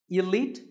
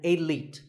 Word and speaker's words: elite: Actually, there are two correct pronunciations, elite and elite. Both are okay, but just don't say elite. There's no light in elite.